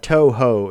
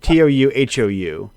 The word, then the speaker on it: Touhou: it's the one with it's not Toho, it's like To, like it's got an long. Touhou.